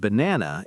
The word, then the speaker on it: banana: Yogurt and banana is stressed on the second syllable but na.